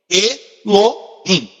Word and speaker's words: Elohim: Na verdade é um H, mas se pronuncia como R aqui. Rim. Aqui o final é um M. Elohim.